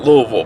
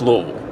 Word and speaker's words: Louisville: One of the joys of Louisville, and that's how you say it, Louisville, by the way, for fellow Kentucky folks. It's not Louisville, it's Louisville. Louisville.